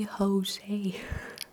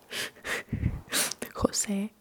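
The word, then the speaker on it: José: you exhale, J, and J looks like J, but we don't pronounce it as J. And I think you know about this because they are popular names like Juan or no way Jose. Jose, okay?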